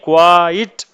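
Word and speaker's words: quiet: اگلا لفظ ہے کوائٹ۔ واضح رہے کہ یہ کوائٹ پڑھا جاتا ہے، کوائٹ، ایک ہوتا ہے کوائٹ۔ اس کی اسپیلنگ میں فرق یہ ہوتا ہے کہ اس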